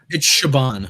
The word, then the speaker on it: Chabon: I've never heard it pronounced, so I don't know. It's Chabon.